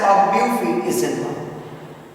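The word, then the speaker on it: Ogbuefi Ezenwa: We pronounce it as Obufi Izenwa. OB5 Izenwa. This is the right pronunciation.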